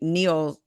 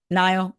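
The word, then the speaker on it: Niall: actually in town for his former band mate Neil horen is that how you say it Neil Nile Nile right um for his concert so that's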